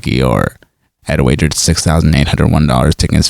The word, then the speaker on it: Eeyore: If you say his name in a British accent, it sounds like Eeyore, Hee-ah, Eeyore, Hee-ah, like a donkey would say.